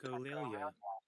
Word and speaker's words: echolalia: Okay, and this is how you pronounce it. Echolalia.